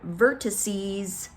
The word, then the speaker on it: vertices: make it plural and we say the word vertices vertices we change that X to a C @es vertices vertices three syllables we can handle it